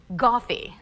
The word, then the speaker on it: Goffe: idea now it's called Goffe I don't know if that sounds so sophisticated but Who am I to judge it's pronounced like coffee but it has a G it launched a year